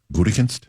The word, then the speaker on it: Gutekunst: I didn't move here till 94, so forgive me for not knowing how to pronounce. How did you say your coach's name, John? Gutekunst.